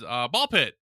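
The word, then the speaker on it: BALL x PIT: I've heard it pronounced a bazillion ways with the X, Yeah, without the X, with times, not the times. I'm just going with ball pit.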